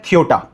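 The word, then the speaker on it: Ceuta: तो सबसे पहले तो एक शहर का नाम जिसकी स्पेलिंग है सी ई यू टी ए इसको प्रोनाउंस किया जाता है थियोटा।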